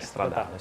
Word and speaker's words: Stradale: Italian, but SF actually, if I want to pronounce it in Italian way, I should say SF90 Stradale. Mine actually, Stradale.